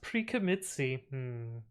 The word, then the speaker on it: pre-commit.ci: here quickly and easily it's pronounced pre-commitsi imagine messing up a